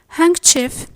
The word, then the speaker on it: handkerchief: We mentioned before that the D is silent in some English words. Yes, definitely. It's in words like handkerchief, handsome, Wednesday, and sandwich.